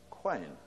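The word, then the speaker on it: Qayin: And interestingly, originally, it was spelt with a Q. Q-A-Y-I-N, Quain.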